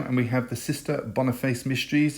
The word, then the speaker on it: Boniface: we have the sister boniface mysteries it's actually pronounced bonafis in the show don't know why some dazzling media it's